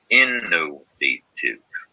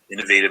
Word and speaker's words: innovative: out of that word it's important to know that while innovative sounds like tiv a short i sound tv it's actually the ivp suffix down below inventive is